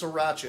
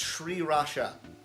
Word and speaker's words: sriracha: stuff also fun fact it's not pronounced sriracha it's sriracha i've i've apparently been